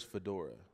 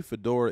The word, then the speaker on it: Fa'dorah: a bathroom and the locals were like where's Fedora we're looking for Fedora like is he coming